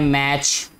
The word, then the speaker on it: match: और इसमें हम लिख सकते हैं मैच, MATCH. ठीक है बेटा, इसमें टी साइलेंट होगा.